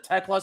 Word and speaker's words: Tekla: I said Thekla instead of Tekla, so I obviously apologize for that.